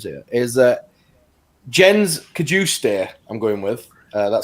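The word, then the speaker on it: Jens Cajuste: big big list of names here is that jen's could you stare i'm going with uh that's that is perfect pronunciation yeah sweet swedish international currently playing for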